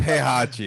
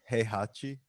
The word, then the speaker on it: Heihachi: No, his name is Heihachi. It's not Krusty. Honestly, I pronounced it wrong.